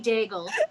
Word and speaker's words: Daigle: Yes, her name is Dimity Daigle. Oh my god. Does she really like bagels? It's not spelled like bagel. I know, but it rhymes, and that's what matters when you're doing an audio format joke.